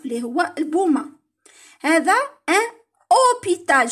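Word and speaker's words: hôpital: هذا ان أوبيتال، شوفوا الأش من الأول ما نطقوهاش كاع ديريكت أو.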